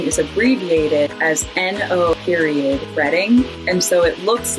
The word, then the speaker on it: Reading: And then my favorite is Reading, which is spelled exactly the same way as reading.